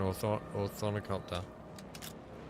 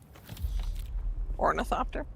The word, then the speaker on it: ornithopter: I was just tearing apart an orth oricopter or I don't think I'm pronouncing it right, but whatever. Ornithopter.